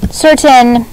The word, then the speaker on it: certain: cannot be curtain because this letter right here tells us that that's gonna be a s sound okay curtain is spelled